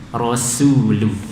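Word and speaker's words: رسول: Asyhadu, kemudian lafaz rasulu ya, rasul bukan rasul. Banyak yang kita membacanya rasul, su ini shad ya, rasulu sin.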